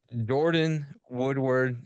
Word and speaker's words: Jordyn Woodward: dial in how we always man all right Jordan Woodward is that how you say it am I